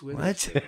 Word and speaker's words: Witherspoon: Rhymes with Please Hit Her Poon. Reese Witherspoon.